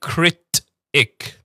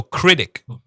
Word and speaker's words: critic: Now, we're going to come to this later on, but sometimes when we have a T in the middle, we don't say critic. Sometimes it sounds like a D sound. So critic.